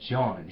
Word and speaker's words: Jan: john wycliffe and john it's spelled like jan but it's john john huss right from